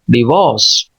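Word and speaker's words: divorce: इस पे स्ट्रेस भी है, तो इसको नॉर्मल पढ़ना है पहले सिलेबल को, इसको स्ट्रेस के साथ कंप्लीट सिलेबल को, ये 2 सिलेबल वर्ड है, डी वॉस, डिवोर्स, डिवोर्स, डिवोर्स। जबकि अमेरिकन आर को नुमाया करते हैं, बस इतना फर्क है, डिवोर्स, डिवोर्स। और ब्रिटिश जो है वो आर को नुमाया नहीं करते, बल्कि खुफिया रखते हैं, डिवोर्स।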